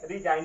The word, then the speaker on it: resign: अब यहाँ पे देखिए RESIGN, यहाँ पे भी एन से पहले जी आया है, ये भी जी क्या हो जाएगा, आपका साइलेंट हो जाएगा। इसको पढ़ेंगे रिजाइन पढ़ेंगे।